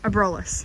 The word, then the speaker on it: Abrolhos: Albros? The Abrolhos.